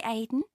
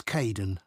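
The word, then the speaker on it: Kaeden: Hi Aiden. Uh it's Caiden.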